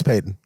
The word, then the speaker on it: Payton: Now, is it Payton or Patton? I keep forgetting. It's Payton. They're both Payton. Yeah, it's George Payton, but they're not spelled the same.